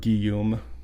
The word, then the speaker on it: Guillaume: yeah how do you say his name Robert Guillaume Guillaume yeah okay now next part I have